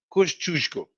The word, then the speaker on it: Kościuszko: Okay, so the correct pronunciation of the Polish guy is Kościuszko.